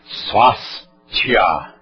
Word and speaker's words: Swasthya: Eu vou pronunciar Swasthya.